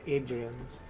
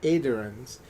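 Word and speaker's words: Aedyrans: When the Adrians, I think I've been pronouncing it as Adrians. When the Aderans were defeated, ultimately driven out, 2 of the earldoms were absorbed and borders were adjusted.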